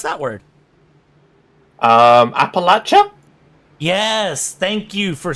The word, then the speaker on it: Appalachia: flag I'm going to ask Howe how to pronounce that word um Appalachia yes thank you for saying that correctly but